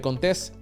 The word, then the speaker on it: Contés: Mi nombre es Miguel Contés, con acento en la E, y nos vemos en la próxima.